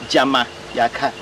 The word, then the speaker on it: Jamaica: In our conversion, we say Jama Yaka. Jama Yaka. Jama means perhaps to stay permanently Yaka. So Jama Yaka. So continue pronunciation, the Anglicized they make it Jamaica, Jamaica, Jamaica.